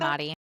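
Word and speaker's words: daemati: We think that they Well, at least we believe they're both hi uh cuz they have that dementi. Is that how you pronounce it? Deari.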